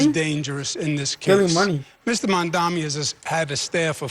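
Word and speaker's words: Mamdani: And furthermore, the name is Manni. M A M D A N I. You should learn how to say it because we got to get it right. Mandami is right.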